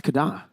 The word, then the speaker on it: KDA: It's Kada. It's Kada. That's how you pronounce KDA. For Haji specifically. For everyone else, it's just KDA.